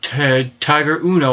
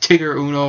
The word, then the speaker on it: Tiger Uno: Also, we saw the debut of Tiger Uno. I think it's pronounced Tigger Uno or Tiger, something weird like that.